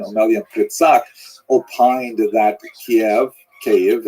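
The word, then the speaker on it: Kyiv: pitak opined that KV cave as it's pronounced today in the Ukrainian pronunciation cave was actually founded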